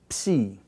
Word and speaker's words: psi: This is the letter psi, psi, okay? This is a combination of your unvoiced P plus sigma.